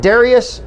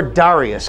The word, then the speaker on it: Dareus: one thing to rest is it Darius or Darius can you tell me how you like to have your name spell it will even though it's darius there you go so it's darius that's just so everybody knows when you hear it said on TV if they say Darius that's not the way it is is spelled like you